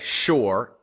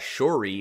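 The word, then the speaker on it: Shure: that pop in mind okay sure s-h-u-r-e he's a sound engineer so that's not a good name because I would pronounce that shory or Shore what's another what's just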